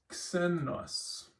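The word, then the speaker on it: ξένος: So it's not xenos because it's at the front of the word. It's still xenos. So you want to pronounce the K sound and the S sound together always.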